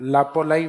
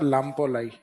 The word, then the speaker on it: लाम्पोलाई: वैसे सही नाम है इसका लाम्पोलाई क्या लाई लाम्पोलाई तो यह कई बार इस आधे मैक को साइलेंट करके भी लिख देते हैं तो समझ जाओगे आप लापोलाई या लामपोलाई तो लापोलाई इज द मिड